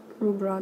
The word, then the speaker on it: Louvre: Louvre, that's how the French pronounce it.